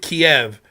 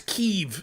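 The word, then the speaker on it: Kyiv: ] same thing with Kiev remember when everyone called it Kiev the city in Ukraine now it's keev it's ke that's how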